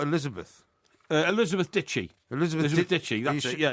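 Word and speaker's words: Dicki: Dicky. Isn't that Dicky? Ditchy. It's pronounced Ditchy.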